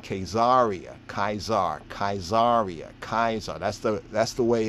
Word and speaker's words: Caesar: was called kaizaria kaisar caesar was not pronounced like that was pronounced as kaiser interesting when we then